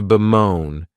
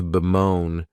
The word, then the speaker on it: bemoan: next verb is to bemoan and this verb has two syllables and the stress is on that second syllable you may